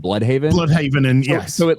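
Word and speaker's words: Blüdhaven: If it's in Germany, I imagine they'll pronounce it Bloodhaven or whatever. But it's America, and Americans do what Americans do: dub it down.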